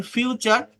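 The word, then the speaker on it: future: শব্দের শেষে যদি টি ইউ আর ই থাকে তার উচ্চারণ চার হয়।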